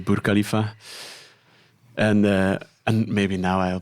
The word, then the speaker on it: Burj Khalifa: And the Burj Khalifa, I pronounced it wrongly. I said Bir Khalifa in the previous episode. Oh. Apparently it's Burj Khalifa.